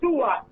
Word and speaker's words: Tuat: The underworld is called Tuat, T-U-A-T. But when you listen to the word Tuat, it sounds like the word twat.